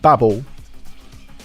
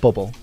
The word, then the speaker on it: Babel: Babble. You have to You have to say it like Z or Babble. Babble. Babble. Yeah. Not bubble.